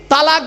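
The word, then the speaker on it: طلاق: তালাক বলেন না? খবরদার কেউ বলবেন না তালাক। শব্দটা তালাক নয়, শব্দটা হলো তলাক। কি বললাম? তলাক।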